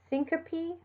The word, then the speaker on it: syncope: cholesterol or chemical, and E or ES at the end of a word are pronounced as a separate syllable. So syncope or nares.